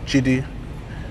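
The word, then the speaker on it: Jide: Basically, JD stands for Jidi, which is a Nigerian name. It's an abbreviation of that name, which is spelled J-I-D-E.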